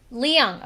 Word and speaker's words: Leung: How do you pronounce Telly Telly? Leung. Leung.